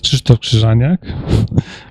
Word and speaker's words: Krzysztof Krzyżaniak: this way s about me my name is Christo kranak but you don't have to learn how to pronounce because I react to my nickname as